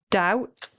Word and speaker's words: doubt: You pronounce this word doubt.